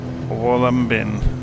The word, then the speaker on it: Wollumbin: So, if we look it up on LittleNavMap, so this is the Wollumbin, that's the phonetic pronunciation, Wollumbin National Park.